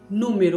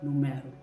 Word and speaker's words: número: Número, bem diferente de numero.